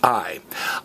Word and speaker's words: hay: say aye aye aye looks like hey but it's pronounced aye aye means there is